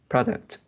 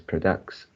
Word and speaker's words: products: Uh, yeah, this is a noun form of uh, this word, so it is the stress is at the first syllable. Product, products. Japanese product. Yeah, and you pronounce as products.